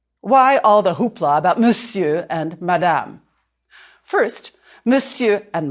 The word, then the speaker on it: monsieur: The S is fine, and the I-E-U-R too. You can draw a line through the R, the R, to remind you not to say it.